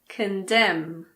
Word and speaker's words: condemn: Column, condemn, dam, hymn. What about the letter P? Well, we don't pronounce P if it comes at the beginning of a word before an S.